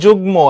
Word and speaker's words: যুগ্ম: এরপরে আসো যুগ্ম শব্দের উচ্চারণ হবে যুগ্ম, এখানে গর সাথে মফলা যুক্ত হয়েছে, উচ্চারণ মর বহাল থাকবে, উচ্চারণ যুগ্ম, কিন্তু এখানে হবে না, এটা বফলা, এটা ডাবল হয়েছে।